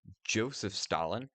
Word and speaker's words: Joseph Stalin: If you do the standard English pronunciation of Joseph Stalin, which is why I usually call it, this tank is a JS2.